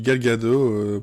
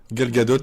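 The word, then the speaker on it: Gal Gadot: Je sais pas mais la façon dont tu dis Galgado pour moi je crois que c'est des t ne se prononce pas mais Galgadot on dirait on dirait un un je sais pas un robot ou un monstre tois le le séquence c'est le Golgot.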